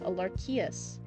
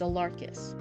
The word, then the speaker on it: Alarchius: So the I is silent. So, Alarchus? Oh, I wonder why the I's there then. The I makes me think Alarchius, but it's Alarchus.